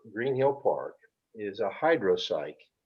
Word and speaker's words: hydropsyche: Oh, So the the fly you want to tie for Green Hill Park is a hydropsych. It's a net spinning caddis. It's spelled HYDROPSYCHE, hydropsych.